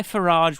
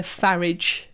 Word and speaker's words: Farage: And I favour Farage as a pronunciation. Oh, do you? Okay, Farage. I feel like I'll take that. Farage. Farage. I Bill Farage is far too French for somebody.